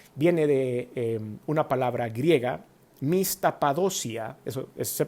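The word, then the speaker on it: μισθαποδοσία: La palabra galardón en la Biblia viene de una palabra griega, mistapadosia, eso se pronuncia la palabra griega y significa el pago de un salario, una recompensa o un premio.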